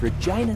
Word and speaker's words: Regina: Wilson out of Regina, Saskatchewan, lines up the shot. His form looks good. Oh, that's why Regina rhymes with fun.